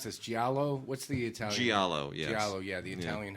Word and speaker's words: giallo: I forget how to pronounce this. Giallo? What's the Italian? Giallo, yes.